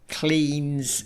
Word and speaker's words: Cleeng: And this was a theme that was carried over into a conversation I had with Clean's CEO, Gilles Domartini, and Clean is spelled Cleeng.